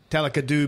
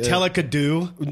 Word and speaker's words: Talakadu: I mispronounced the heck out of that. There's actually Talakadu. No, what's wrong with me? That's a variation.